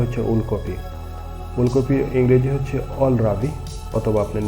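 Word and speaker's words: kohlrabi: উলকপির ইংরেজি হচ্ছে অলরাবি, অথবা আপনি নলও বলতে পারেন। KOHLRAVI রাবি, অল রাবি। KNOL নল, KNOL। আমরা জানি কেটার সামনে হলে ইংরেজি কেটার উচ্চারণ আসে না, এই জন্যই অল রাবি নল অল।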